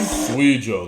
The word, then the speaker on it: Suigo: Suigo, that's how you say it.